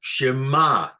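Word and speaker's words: שְׁמַע: the the the the the Trope sign here is under the mem so it's Shema that's how we know how it sounds because we don't have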